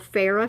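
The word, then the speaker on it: Phoera: ordered online it's called farah foundation i hope i'm saying that right i think the o is silent p-h-o-e-r-a this makeup has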